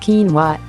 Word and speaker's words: quinoa: Quinoa, pronounced quinoa, is a nutritional all-star that belongs in your weight loss plan.